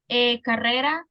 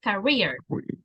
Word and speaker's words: career: two Corrections with pronunciation carera the pronunciation is career career career okay that's one and